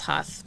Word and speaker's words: Huth: maiden last name is huth but in german it's pronounced hoot so um i don't